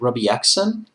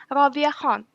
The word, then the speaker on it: Rabia Khan: Is it Robbie Exon? Not exactly. It's Rabia Khan. Robbie Khan.